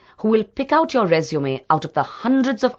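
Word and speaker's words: résumé: Resume is a French word. The accent on the letter E in both places gives it the sound that makes it different from the word resume, which in English means start again.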